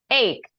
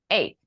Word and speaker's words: ache: This word, esta palabrita de aquí, guys, siempre se pronuncia, let me show you. Ache, like this. Ache. Headache. Earache.